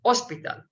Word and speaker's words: hospital: one thing about spanish the h is never pronounced so hospital hospital without the h is pronounced without h